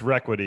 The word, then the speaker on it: ReQuity: so regularly right yeah yeah sometimes i purposely mispronounce it just to bug him but uh yeah it's it's it's requity and i i see re and i always